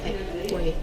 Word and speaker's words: Hauy: Cape Hauy.